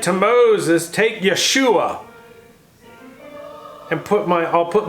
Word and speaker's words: Yeshua: perod Joshua Joshua J how do you say Joshua in Hebrew Yeshua close to you which